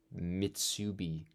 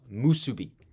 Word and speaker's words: musubi: bell, this connection, this Mitsubi connecting them. Is that the right word? I keep on thinking I'm saying it wrong. No, musubi. I keep saying mitsubi. I'm mixing it with Mitsuha.